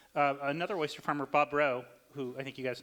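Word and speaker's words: Rheault: another oyster farmer Bob row who I think you guys know right Skid Row is he identifies himself so you know how to pronounce his name but he had a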